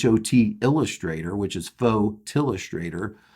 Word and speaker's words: Photillustrator: myself and my wife says the name wrong it is photillustrator not photo illustrator now i made a